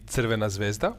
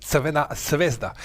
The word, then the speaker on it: Crvena Zvezda: whom I know, and they were like asked to pronounce Crvena Zvezda. And then Thierry are saying Crvena Zvezda, quite correctly, while uh Carragher and some others Crvena Zvezda.